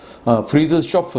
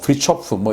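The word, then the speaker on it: Fridtjof: 그래서 당연히 이 프리초프 난센도 우리는 잘 모르지만 노르웨이에서는 대단한 인물인데 발음이 프리드쇼프 난센, 프리초프, 이렇게 여러 가지 발음이 있는데, 어쨌든 저는 프리초프라고 읽을게요. 프리초프 난센이라는 이 분은 1861년도부터 1930년까지 살았던 사람인데, 탐험가예요.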